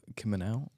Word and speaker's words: Kimminau: delighted to be welcomed by the wonderful Kimel did I pronounce the surname right you did I'm really